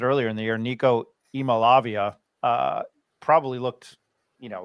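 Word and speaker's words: Iamaleava: um Nico e i I learned how to pronounce it earlier in the year Nico e malavia uh probably looked you know like a Heisman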